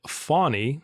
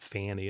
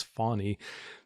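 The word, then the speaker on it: Fani: Journal Constitution Article that fonny which is the correct pronunciation they note in that article like a fawn like a deer but not Fanny it's fonny there are the sitting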